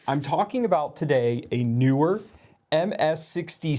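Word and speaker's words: Neewer: that extra e but the company does say newer so I'm talking about today a newer ms60 C now what is this so historically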